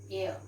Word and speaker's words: heir: He is an so H is silent. We pronounce it as heir.